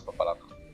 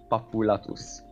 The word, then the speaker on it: Papulatus: I wait until I can get the Chaos Papalato? Until you can get the what? The Chaos, I have no idea how to pronounce his name. Papulatus.